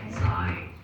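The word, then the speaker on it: ξ: That's called xi.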